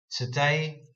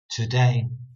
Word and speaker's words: today: in a modern way I'm still putting the emphasis on the word day today today when really I should